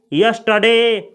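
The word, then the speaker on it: yesterday: होता है यस्टरडे नहीं इसमें आर का उच्चारण नहीं किया जाता है इसको पढ़ा जाता है यस्टरडे यस्टरडे अगला सेंटेंस है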